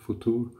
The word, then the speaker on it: Futur: And I'm gonna try a new razor today, Merkur Futur, I think it's pronounced in German, Futur.